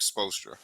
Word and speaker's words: Spoelstra: I'll just give I on when it comes to the Miami Heat, all the respect goes to Eric Spoelstra.